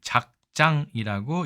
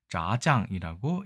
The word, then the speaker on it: 炸醬: 자, 이 글자 작장이라고 읽습니다만 실제로는 중국어로 짜장이라고 읽겠죠.